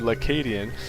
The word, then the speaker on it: lAcadien: I found out that that is an L in front of his name and it is pronounced in one word ladian and his partner is